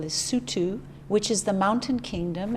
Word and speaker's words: Lesotho: africa and pronounce the name of the country it's spelt l-e-s-o-t-h-o but they pronounce it lesotho not lesotho oh that's the way it looks